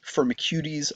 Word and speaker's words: Firmicutes: in the the film firmicuties. I know it looks like firmicutes. Um but remember this is a formal taxonomic name so you should pronounce it like a Greek word.